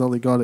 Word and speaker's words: Olithvgxd: So his name is Ollie God. It's spelled so Olithvgxd.